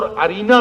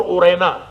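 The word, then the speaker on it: عرینہ: عقل اور ایک اورینا، یا بعض نے اس کو عقل اور ارینا بھی کہا ہے، لیکن صحیح بات یہ ہے کہ اس کا تلفظ عقل اور اورینا۔ یہ 2 قبیلے تھے،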